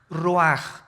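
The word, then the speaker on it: רוח: El ruaj que se escribe r u a c h ruach en el hebreo y se pronuncia igual roj.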